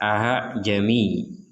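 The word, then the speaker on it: أأعجمي: Jadi ada titik di hamzah kedua, ini tashil, artinya dipermudah. Jadi tidak dibaca aa, tapi dibaca a'jami.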